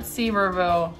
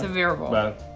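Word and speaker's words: Sevierville: coming to the end it's several severe not seaverville save reveal has been said yeah severe ball peeps severe ball severe ball get it right okay Sevier County for County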